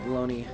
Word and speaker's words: bologna: Who made the pronunciation of baloney? Baloney. I think it's probably the French, if I had to guess. They mess things up like this. I will use a knife. I will use a knife to cut my bologna. Bologna would make more sense to spell it.